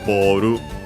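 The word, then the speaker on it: ボール: to attach it and modifying boru, ball, as we have seen, one of those words from English which are unaccented, so be careful.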